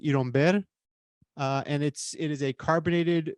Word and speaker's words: Iron Beer: called Iron Beer, which in Cuba would be pronounced Iromber.